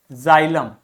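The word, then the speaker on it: xylem: समझ में आ गई इसी प्रकार एक्स को आप जड की तरह से प्रोनाउंस करोगे यदि व एक्स किसी भी शब्द के बिगिनिंग में आता है जैसे जाइलम जाइलोफोन जेनोफोबिया जेनोफोबिया मतलब ऐसे लोगों से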